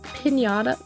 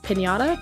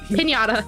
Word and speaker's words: Piñata: Um, but I hope Pinata Piñata. Piñata. I hope the Pinñata does well. Yeah, cuz I have to correct you on that.